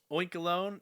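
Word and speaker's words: Oinkologne: Oinkalone, yeah, I'm definitely going with that pronunciation because it is a combination of oink and cologne.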